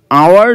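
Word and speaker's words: hour: বলতে চেয়েছে আধা ঘন্টার বেশি হয়ে গেছে দেখো আওয়ার যে ওয়ার্ডটা এটা একদমই কমন একটা আর্টিকেল রিলেটেড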